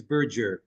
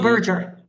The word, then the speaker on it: Burger: the pronunciation my of my surname is Burger it's a soft oh Burger thank you for correcting